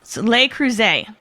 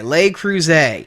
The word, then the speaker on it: Le Creuset: Now, you're going to have to tell me how to pronounce the next company we're going to talk about. Soleil Cruise. Okay, Le Creuset.